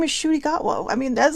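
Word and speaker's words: Ncuti Gatwa: Shudigatwa. Right? What a cool name. It looks nothing like it's spelled.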